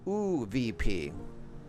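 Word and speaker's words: ÖVP: not only became - I think that's pronounced ooh VP with the two dots above it became the strongest force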